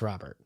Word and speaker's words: Rhobert: this story Rahul Burt I think it's still pronounced Robert oh it is okay yeah yeah it's got a cooler spelling so in terms of